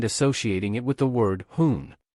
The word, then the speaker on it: 结婚: it with the word jiéhūn. While "hoon" has a negative connotation, referring to someone who doesn't follow traffic rules and creates traffic crises, its pronunciation is quite similar to 昏 We can use a negative concept to reinforce the idea.